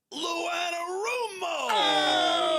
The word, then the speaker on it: Lou Anarumo: It's pronounced Lou Anarumo.